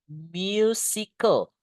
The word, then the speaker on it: musical: Selanjutnya alat musik berarti musical. Bacanya guys musical kayak ada y-nya gitu. Musical.